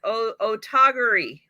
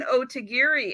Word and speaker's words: Otagiri: We are saying Otogari. Otogari. We're not saying Otagiri any longer. We're saying Otogari. Why? Because if you ask Google how to pronounce it, they actually have 3 pronunciations, and all of them basically are Otogari.